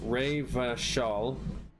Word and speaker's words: Revachol: O Riverall is pronounced Ray Vashall.